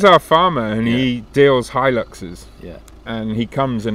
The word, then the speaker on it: Hilux: a real person looks it's pronounced Hilux cuz those are the two main question Roy's our farmer and he deals high Luxe's yeah and he comes